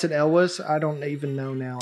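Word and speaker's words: Cary Elwes: Carrie Elwes. Carrie Elwes. I heard somebody pronounce it Elwes.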